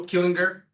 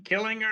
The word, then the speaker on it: Killinger: And today, I have Joe Killinger. Is that I get it? I got it right? Joe Killinger, close enough. I've been Killinger.